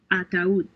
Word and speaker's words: ataúd: Since these words have a written accent over the letter U, the diphthong is broken and the two vowels are pronounced separately. baúl, Baul.